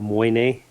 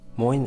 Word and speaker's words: Moyne: Today I'm in County Mayo in Ireland on the west coast of Ireland I'm in an old Abbey called Monye Abbey. I hope I am pronouncing that right.